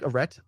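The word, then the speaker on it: Arete: So I think Aret is how you pronounce it. Aret is the Greek god of virtue, and it's kind of like naming this phenomenon, even going back to Greek times.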